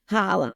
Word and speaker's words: challah: And she was like, it's pronounced challah. Holla.